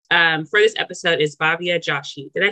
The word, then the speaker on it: Joshi: And our guest for this episode is Bhavya Joshi.